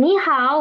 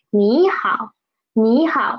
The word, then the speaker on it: 你好: Okay, please pay attention to this 你好 because there are two third tones together, third tone syllables together. So we will change the first third tone into second tone. Okay, 你好，你好。